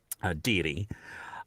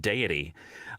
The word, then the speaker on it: deity: A book I did recently, you know the word deity, deity. Well, I apparently did not know that that's how you pronounce it, and I said deity throughout the book, which, you know,